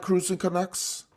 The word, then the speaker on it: Cruising Canucks: But before we talk about cruising and the Cruising Canucks, am I saying it right, Cruising Canucks? That's right.